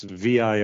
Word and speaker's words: vir: this word for man it's vir or Weir as how it would be pronounced I think and so the idea